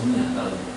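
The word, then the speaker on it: عُنِيَ: Walaqad uniya, ini bacanya harus uniya karena di dalam bahasa Arab itu ana itu jarang muncul, yang muncul itu uniya.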